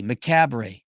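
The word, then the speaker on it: macabre: does maab oh maab it's not it's not spelled maab it's maab m a CA b r e maab maab though is how it's pronounced it means um death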